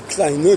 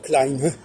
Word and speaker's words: klein: Mais en revanche, l'autre erreur de l'allemand, c'est quand ils disent klein, ils le prononcent comme le féminin, alors qu'ils devraient dire klein, klein. Ils devraient prononcer avec une diphtongue comme en français, quand on passe de grande à grand.